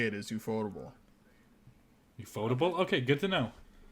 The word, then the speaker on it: Ufotable: Mappa, or is it Ufotable? Ufotable? Ufotable? Okay. Everybody, it's always. I always said UFO table, and I don't think that's that's definitely not the right way to say it.